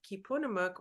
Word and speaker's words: Keepunumuk: Bunton I am the co-author of kipunamuk we actually Moon's first Thanksgiving and that's how you pronounce it those are words in